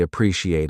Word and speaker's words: appreciate: I really appreciate it." Do you feel the warmth in that? That is real human connection in English. The pronunciation. Appreciate. 4 parts. Pre-si-ate.